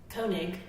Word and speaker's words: Koenig: Kiognik? How do you pronounce this? Koenig.